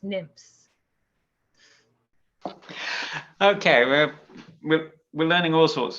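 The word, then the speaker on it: NMFS: which is a part of noah and that's pronounced nymphs okay we're learning all sorts of things here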